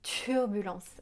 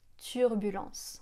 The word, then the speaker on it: turbulence: Elle dit permis, pays et turbulence. J'exagère un petit peu, mais c'est ça l'idée. En français, on va dire permis, pays, turbulence. On souffle pas en prononçant ces sons de consonnes.